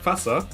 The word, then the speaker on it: fhASSA: thing is uh if uh someone from america or england uh sees its name they pronounce it like fasa and this is the way i actually prefer it but if you